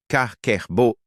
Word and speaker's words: kakeibo: japonais d'économiser de l'argent kakeibo prononcé kkererbo est une technique budgétaire